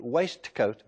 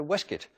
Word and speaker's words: waistcoat: simple idea was that word should be spoken with all the written letters sounded which was fine as